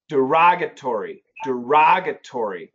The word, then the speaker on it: derogatory: And yeah, derogatory. So this is the main stress, and then this one is a lesser but also stressed.